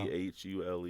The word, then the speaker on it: Thule: Thule. Yeah. Okay. I'm really bad at Is that how it's pronounced?